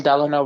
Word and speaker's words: Delano: Delano, like Franklin Delano Roosevelt, but it's pronounced Delano.